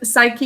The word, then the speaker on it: psyche: but um thinking of psyche you can always remember that there's that silent p in front of it it says a lot